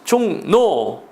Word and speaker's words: 종로: 얘는 발음이 중요합니다 신문 노예요 그러기 때문에 신문노 발음하는 거요 종로 이도 비하지 종노 왕심리 역시 비음화 그다음에 별내 별내는 유마가 됐네요